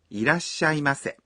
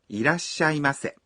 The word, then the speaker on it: いらっしゃいませ: greet us by saying, いらっしゃいませ. Do we have to reply? No, you could just smile and bow. When you pronounce いらっしゃいませ。 you stop your breath for one beat after da. いらっしゃいませ。